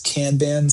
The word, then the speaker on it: Kanban: It's a Japanese word and in in Japan um words are only pronounced one way, unlike other languages like English.